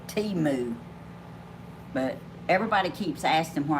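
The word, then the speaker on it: Temu: know tumor they say they say pronounce it Teemu but everybody keeps asking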